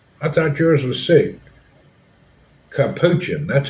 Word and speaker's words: capuchin: Capuchin, that's how you say it.